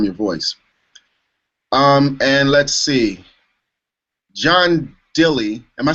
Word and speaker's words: John Dilley: And let's see, John Dilley, am I saying it right, John?